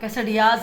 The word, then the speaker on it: quesadilla: कैसे रियाज कहते हैं? कैसडियाज है, पता नहीं जो भी है आप। एल आता है तो एल आई थिंक साइलेंट है।